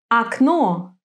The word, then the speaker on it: Окно: In some words, the stress falls on the last syllable. Тепло. Легко. Окно.